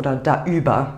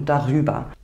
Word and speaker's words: darüber: Quando a preposição começar com uma vogal, acrescentamos um 'r', para que possamos pronunciar a palavra melhor, para que não falemos algo como "woauf" ou "daüber", e sim "worauf" e "darüber" Vamos olhar alguns exemplos da introdução novamente.